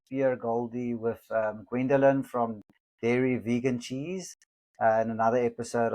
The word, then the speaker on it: Dare: So, um I wanted my life's work to be a pun and the company is Dare Vegan Cheese, but it's pronounced Dairy with the um the E.